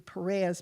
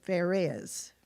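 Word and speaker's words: Pharez: r z I would think it would be Perez but they actually pronounced it FZ with an F so FZ was born first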